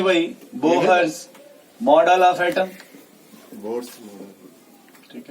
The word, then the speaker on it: Bohr: ठीक है, जिसमें एच साइलेंट होता है, फिर भी किसी को मन करे खींच दीजिए, मन करे तो साइलेंट कर दीजिए। अगर एच को साइलेंट कर देंगे तो बोर पढ़ेंगे, अगर उसको साइलेंट नहीं करेंगे तो बोहर्स पढ़ेंगे।